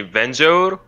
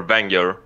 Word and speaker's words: Vengeur: ways I will say you can say venture or banger it's kind of the same and it's a funny